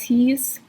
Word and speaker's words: hieß: So this EI is pronounced I, like an Einstein, and then this IE is pronounced E, like in Liebe. We had Ich liebe dich, I love you. Ich liebe dich. So IE is E, hieß, and EI is I, like Einstein.